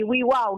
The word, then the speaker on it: WAW: juga ya karena Oke kita memang akronim dari Wi wow gitu orang suka nanya kan Eh bacanya wew Wi Wow sih Wi wow gitu